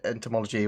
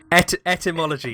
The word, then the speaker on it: etymology: It's important about the word, not its entomology, whatever, how you pronounce that. Etymology.